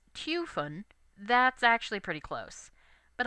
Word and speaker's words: Typhon: In Japanese, his name is rendered Tupon, and as the Greek pronunciation is Typhon, that's actually pretty close.